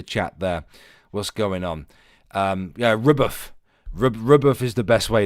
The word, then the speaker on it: RBF: Rubuff. Rubuff is how that's pronounced, actually. Do we have Tempest in the chat?